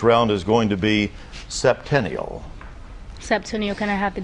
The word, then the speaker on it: septennial: And Kiana, your word for this round is going to be septennial.